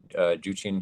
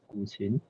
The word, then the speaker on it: guqin: So the pronunciation of that word is Guqin.